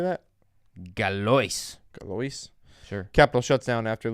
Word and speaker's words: Galois: Galois.